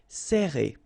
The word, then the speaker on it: serrer: Alright, so interesting here because you get this E and then double R after that. So it will open the sound of E, okay? So you will pronounce it like E. Serrer.